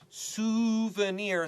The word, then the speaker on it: souvenir: terrified me tell Toby a lot of students say it wrong but it's really easy souvenir sounds like a moon we all can say the moon that's an easy word